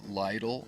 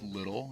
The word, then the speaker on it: Lytle: Set, which and Nick Lytle. I thought it was Little, and he was like, "Yeah, you got my fucking name wrong." And I was like, "Sorry." And he's like, "Everybody gets it wrong."